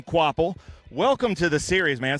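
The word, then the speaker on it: Kvapil: So it is pronounced Carson Quapple.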